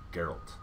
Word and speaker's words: Geralt: Geralt. I knew I was going to say it wrong. It's a hard G.